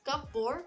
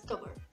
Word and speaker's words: cupboard: Instead of saying as cupboard, say it as cupboard.